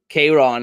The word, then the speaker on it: Kayron: Kayron is how his name is pronounced.